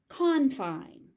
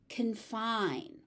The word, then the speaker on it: confine: So, just keep in mind the stress pattern changes depending on how you are using the word.